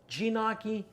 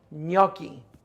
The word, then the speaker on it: gnocchi: so what do you call it jinaki i'll tell you the proper pronunciation is actually gnocchi plain and simple four easy ingredients are what